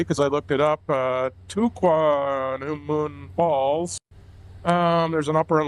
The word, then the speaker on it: Tahquamenon: We are working our way up to I'm going to try and pronounce this correctly because I looked it up Tahquamenon Falls.